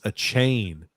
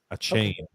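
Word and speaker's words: Achane: his system just interesting it's pronounced a chain a great shift running back out of A&M a chain okay and then sorry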